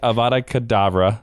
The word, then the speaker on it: Avada Kedavra: You are ready to say Avada Kedavra.